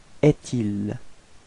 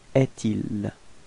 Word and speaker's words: est-il: So it's actually quite easy to figure because you get this trait d'union between est and il, so actually we'll have to pronounce est-il, est-il.